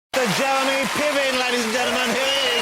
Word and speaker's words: Piven: Is that a long line of Pivens, or because I've never met a Piven before? You know, it's actually a Ukrainian name, and it's pronounced Piven, I believe, and it means rooster or singing cock.